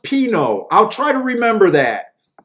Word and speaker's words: pinot: it up with the button ups oh it's pronounced pino i'll try to remember that pinot oh oh jared you watch that tournament i